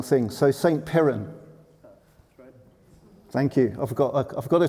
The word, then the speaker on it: Piran: Piran.